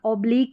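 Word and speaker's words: oblique: ये है अब्लीक, ऑब्लीक या अब्लीक दोनों तरीके से आप प्रोनाउंस कर सकते हैं, ऑब्लीक या अब्लीक।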